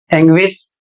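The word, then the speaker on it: anguish: इन सभी शब्दों में यू का उच्चारण किया जा रहा है।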